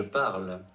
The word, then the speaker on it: parle: You may hear native speakers make a silent sound at the end of the verb forms like parle and parler when they are going slowly and enunciating like our speaker in the table above. However, that's just a bit of air that lets them pronounce the final consonant sound clearly.